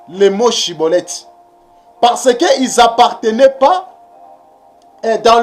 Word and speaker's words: Shibboleth: pour mes frais limites voyez il a questionné prononcé shibboleth fraser nous sommes dans les temps que nous